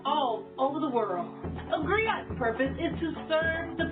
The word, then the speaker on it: griot: It's pronounced griot, or in English, a griot. It's a West African term for the person who